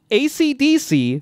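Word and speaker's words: Esidisi: wham yeah we have acdc who is just pronounced ac dc they just spell it differently they spell it phonetically so good yeah yeah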